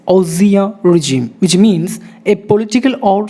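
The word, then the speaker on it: ancien régime: It's not ancient regime, it's Osia regime, which means a political or social system that has been displayed by another. Osia regime.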